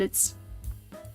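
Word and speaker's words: 以: This one looks kind of weird, but it's with, by, or from something word from, pronounced as I. Like igai, ika.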